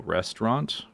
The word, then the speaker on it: restaurant: That's another word where you drop a syllable. Restaurant, restaurant, restaurant, restaurant, restaurant, restaurant, restaurant, restaurant. It's almost totally gone. It's got like a little vestigial vowel there. Restaurant, restaurant. It's not totally gone.